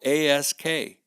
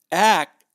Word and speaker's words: ask: K in the word here's another ask it is spelled a SK but I hear people saying it like it's some big Valhalla Viking axe act ask like to ask a question is a